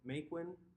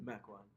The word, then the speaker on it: Mequon: You grew up in Maquin, Wisconsin? Mequon. Macwin?